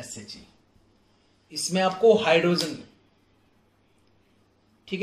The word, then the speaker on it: SHE: with the help of SHE, with the help of SHE। जैसे बोल रहा हूं, जैसे प्रोनाउंस कर रहा हूं वैसे ही करना है, शी नहीं बोलना है।